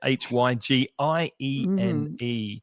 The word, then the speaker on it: hygiene: H Y G I E N E. And the pronunciation is high gene or hygiene if Jean is very tall.